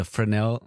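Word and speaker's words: Fresnel: of lens called a Fresno lens and maybe that was a different episode um well the frel lens uh oh frel right right I pron I pronounced it wrong in that episode as well well I think for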